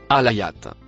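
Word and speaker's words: الآية: Le mot en vert se prononce alayat. Il se traduit en français par verset ou miracle. Compréhension du mot alayat dans sourate 79 verset 20.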